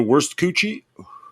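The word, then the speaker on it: Wurstküche: a place called the worst coochie it's a german restaurant and uh we will have we will have it's called the worst gucci that's exactly how you pronounce it like i know can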